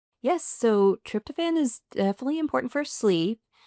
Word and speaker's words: tryptophan: be good and one of them is the tryptophen.